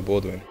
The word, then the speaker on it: Boldewijn: The pronunciation? Oh, Enzio Boldewijn.